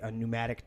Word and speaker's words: pneumatic: How is pneumatic spelled with a P? PN, pneumatic. If you look up the word pneumatic, it comes with a P, PN, right?